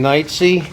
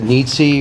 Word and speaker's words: Knightsey: All right, my name's Knightsey. Some people pronounce it Neatsy or Nitsy, but think of being on the sea at night, for the sake of interest.